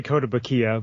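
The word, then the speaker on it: Kotobukiya: So we'll start off with, I'm going to pronounce this as wrong, I'm sure, but Koto Bukaya. Is that how it's pronounced? Sounds right. I say Koto Bukiya, but it is right.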